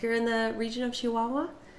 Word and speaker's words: Chihuahua: in the region of Chihuahua hear them say not Chihuahua muchacha all harsh but they say it very soft what are other ways